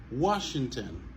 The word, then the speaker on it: Washington: Washington. Alors, O-N à la fin des mots, lit toujours prononcé comme N. Ok? Washington. Question. Nation. Population. Ok? N.